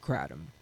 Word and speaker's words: kratom: to just start calling it, but it's actually pronounced catum.